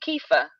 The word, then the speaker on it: kefir: keep wanting to try um how do you pronounce it is it kefir yes yeah yeah so I've always wanted to